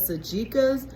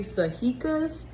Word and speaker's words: sajica: been saying it wrong i thought it was sachika's but i think it's actually sahika's nonetheless i got my